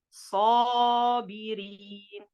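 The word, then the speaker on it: صابرين: Mais s'il est précédé d'une lettre emphatique, on va dire sabirin, sa.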